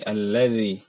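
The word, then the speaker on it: الذي: Jadi ujung lidah diletakkan di antara gigi atas dan bawah. Jadi diletakkan ya, tidak digigit, diletakkan saja. Dan diucapkan tanpa ada suara hams dan suara getar. Ada karena terkadang ada di antara kita yang baca dengan allazi itu bergetar. Padahal dia keluar dengan tidak bergetar.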